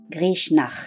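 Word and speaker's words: Grishnákh: Grishnak. Qui provient de la nouvelle page du site, les prononciations chez Tolkien.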